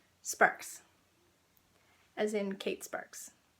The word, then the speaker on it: Sparkes: He'll tell people it's Sparks, but it's spelled like Sparkies.